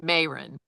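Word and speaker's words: Mairin: I'm pronouncing it Marin.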